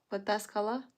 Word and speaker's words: Pataskala: I will separate the town's name by syllables and you still won't get it. Patas Patas Ala Pataskala? Pataskala town is called Pataskala?